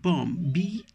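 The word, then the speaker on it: balm: k then we have BOM ba LM bomb L is again silent then v Verdes okay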